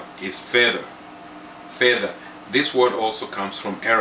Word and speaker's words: fedha: Lemon green = rangi ya ndimu Lemon is Ndimu Silver = fedha Fedha = Arabic origin = Fedha